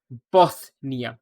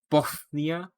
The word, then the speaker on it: Bothnia: The answer is the Gulf of Bothnia. Not Bosnia, but Bosnia with a lisp. Bothnia, or Bosnia.